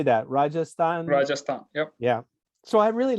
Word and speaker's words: Rajasthan: in western how do you say that rajasthan rajasthan yep yeah so i really like this i